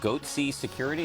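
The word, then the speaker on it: Goatse Security: and they're getting the goatsy picture they're called goatsy security is that my pronouncing that correctly yeah that's right we're analyzing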